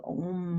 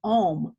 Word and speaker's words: Om: it's significantly less than Om, O-M, at 740. I don't know the reason for that, but it's interesting to know. It's a different sound, A-U-M, if it's pronounced properly versus O-M.